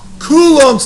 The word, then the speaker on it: Coulomb: We're going to talk about Coulombs Law. Now, here's how you say it. Coo, like he's cool. Ohms, like he's meditating. Or like you're combing your hair.